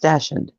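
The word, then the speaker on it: dachshund: then I braided them up yeah Dash It's pronounced dashen Dash dashound if if you watch the um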